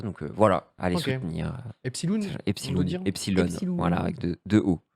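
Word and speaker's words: Epsiloon: Donc, c'est Epsilon. Ça se prononce Epsilon, mais il y a 2 O.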